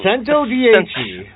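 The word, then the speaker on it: Centodieci: I actually learned how to pronounce this. Sento dich. That's that one. Sento dhe.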